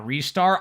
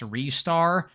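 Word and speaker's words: Ristar: Jump Around and shoot you with rockets it's pronounced uh restar I know someone pointed that out in the video I did on Genesis games as I suspected it is pronounced restar but man that don't sound as good I'm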